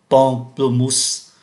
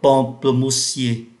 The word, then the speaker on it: pamplemousse: Và chúng ta để ý tới cái cách phát âm của ký tự em, mà ký tự em này phát âm là n, pamplemousse và pamplemousse. Ký tự em là được phát âm thành n do bởi nó đứng trước ký tự p.